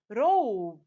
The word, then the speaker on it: robe: Robe.